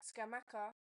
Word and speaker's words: Scamacca: So feedback from an Italian person is that Scamacca pronunciation is correct. So in Italian, double C gives a k sound.